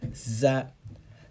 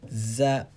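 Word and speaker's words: ز: looked at val there's a common mistake that is pronounced as like the z sound this is the letter that should be pronounced like that za za za and this is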